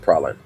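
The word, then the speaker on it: Praslin: oh that's parceling island yeah it's it's pronounced praline see there 2010 there's not a lot of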